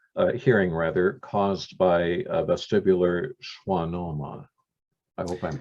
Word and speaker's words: vestibular schwannoma: restore hearing aid hearing rather caused by a vestibular schwannoma i hope i'm pronouncing that correctly that's correct well um probably